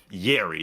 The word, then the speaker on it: Yerry: No, I'm saying Yerry. That's how I say his name. Jerry. I don't know. I don't say his name like Jerry.